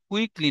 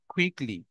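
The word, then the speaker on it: quickly: For example, question, question, quality, কুইকলি, queen, quantity, quantity না ক না খ, কোয়ান্টিটি, কুইকলি না খ, কুইকলি, কোয়ালিটি না খ, কোয়ালিটি, কোশ্চেন না খ, কোশ্চেন।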